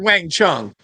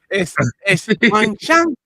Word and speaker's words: 晚上: I heard Wang Chung. No, it's Wang Shang with the S.